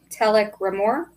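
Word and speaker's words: Telek R'Mor: two guest stars but our biggest one is telk rore is how you say his name that's right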